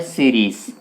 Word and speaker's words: Ceres: चमकीला है, तो साथियों उसका नाम है सीरीज। सीरीज सीरीज तो इसे सीरीज कहा जाता है। साथियों साइरस नहीं कहेंगे क्योंकि साइरस तो एक तारा, चमकीला तारा है, ये है सीरीज। और स्पेलिंग ये देखना CERES।